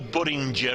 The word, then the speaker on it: Budinger: Sol Budinger, it's pronounced as in ginger rather than bell ringer.